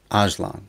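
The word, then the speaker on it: Öcalan: think it was abdullah aquila it's ajlan ajlan that's how it's supposed to be pronounced he was in prison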